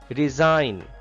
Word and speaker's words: resign: Resign. Resign. G is silent here.